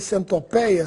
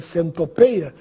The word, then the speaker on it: centopeia: Sabia que apenas no Brasil as palavras colmeia e centopeia são pronunciadas com timbre aberto? Se você for a Portugal e escutar as palavras colmeia e centopeia com timbre fechado, não estranhe, porque eles também estão falando corretamente. Agora, depois da reforma, existem